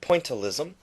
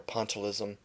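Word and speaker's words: pointillism: uses a technique called pointalism pointalism or sometimes you'll hear that pronounced in spelled as pism they're both okay it's just one sounds more English and one sounds more French pointalism or pontalis pointalism means painting with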